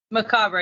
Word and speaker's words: Macabre: And it's going to be super fun to talk to Macabre. how are you doing today? Macabre.